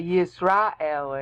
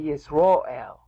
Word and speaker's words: Yisrael: And they don't say Yisrael anymore. They say Yisroel. There's been a tendency of Jews to pronounce A sounds as O sounds.